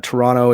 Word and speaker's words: Toronto: someone from Canada uh Toronto is only pronounced of one te not two T's and also you're not you're not really a Canadian uh unless you say you love Toronto yeah Toronto and they actually said